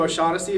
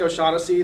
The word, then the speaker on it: O'Shaughnessy: It's a silent R in the middle, much like I have silent G's and H's in O'Shaughnessy.